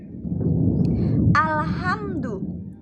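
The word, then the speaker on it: الحمد: Selanjutnya pada ayat kedua ada hukum bacaan al-qamariyah karena terdapat huruf alif lam bertemu dengan ha. Cara membacanya yaitu jelas. Alhamdu. Selanjutnya ada hukum bacaan idhar syafawi karena ada mim sukun bertemu dengan dal.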